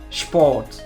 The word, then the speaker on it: Sport: Nous avons aussi la combinaison SP qui se prononce SHP. SHP. Par exemple, Sport.